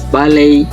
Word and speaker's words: ballet: In T is ballet, listen, and debut.